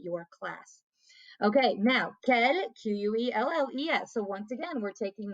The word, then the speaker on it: quelles: And again, these all are pronounced the same way.